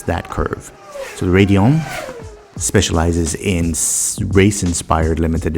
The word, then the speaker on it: Raidillon: enthusiasts did you say radeon lux neophyte yes i said radeon because i'm an american and that's how we pronounce things anyways the video is